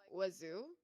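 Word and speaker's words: oiseaux: spelled wazo which is way so how you pronounce it is like wazo uhhuh I forgot how you spell it it's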